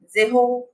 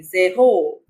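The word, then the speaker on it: zéro: So 0 is zero. I hope you know this E letter with a accent. Yeah. So this is like A, elongated A, zero.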